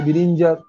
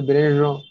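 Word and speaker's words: Bérenger: তখন একজন বলছে যে বিরিঞ্জার ইংরেজি উচ্চারণ করলে বিরিঞ্জার, ফরাসি উচ্চারণ করলে ব্রেরো হবে। তো বিরিঞ্জার বলছে যে ওই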